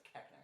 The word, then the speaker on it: Koechner: Keckner. David Koechner, I don't know. Keckner. Is Keckner? I'm like 99% sure it's Keckner.